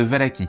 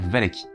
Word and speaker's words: Valachie: T'es prince de Valachie, qui se prononce peut-être Valachi, mais vu que je trouve ça super moche, je vais dire Valachie.